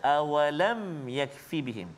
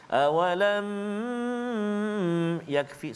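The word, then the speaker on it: أَوَلَمْ يَكْفِهِمْ: Mim mati bertemu dengan ya. Nama dia izhar syafawi. Cara baca dia tak boleh kita dengung, tak boleh kita pegang dia, tak boleh kita lama dekat situ. Contoh, awalam yakfi, salah. Awalam, lama tak boleh.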